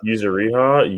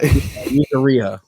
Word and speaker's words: Yuzuriha: Yuzuriha, Yes, yeah, something like that. something like that. Yuzuriha.